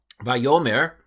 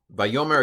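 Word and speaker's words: וַיֹּאמֶר: you can pronounce this here's how I would pronounce it by Omer you should know this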